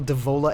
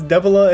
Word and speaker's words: Devola: up don't don't say the words if you don't know how to say it I don't did I say it wrong yes it's DEA and Popa one of the best